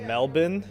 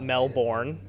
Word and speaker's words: Melbourne: what I've learned uh it's pronounced melbour not Melbourne uh everyone uh everyone